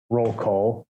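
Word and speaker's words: Rolecole: yes the uh project roll cole yes project roll call r-o-l-e-c-o-l-e if you spell it right you're wrong that's right spell right wrong project roll call is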